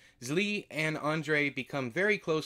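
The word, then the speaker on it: Zlee: of another boy names Lee I believe that's how you pronounce it it is z-l-e-e zli and Andre become very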